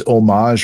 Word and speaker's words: Homage: It's these homage or homage, or it's pronounced homage, right?